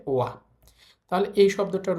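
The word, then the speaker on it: は: এইটা হচ্ছে হা কিন্তু এই হাটা যখন পার্টিকেল হিসেবে বসে তখন আর এটার উচ্চারণ হা থাকে না এটার উচ্চারণ হয়ে যায় ওয়া তাহলে এই শব্দটার উচ্চারণ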